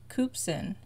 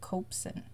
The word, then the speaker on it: Koopsen: I was saying Berhit Koopsen, But she, I heard her say it, and I think she said copsin.